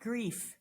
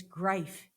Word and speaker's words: Gryfe: My last name is not Gryfe, it's Gryfe.